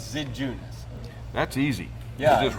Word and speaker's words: Zidziunas: it written and then it's not pronounced the way it looks like it should be spelled so that's why Mike